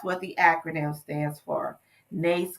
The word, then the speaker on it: NAICS: the acronym stands for nace codes like snakes nace that's how you pronounce it nace codes some people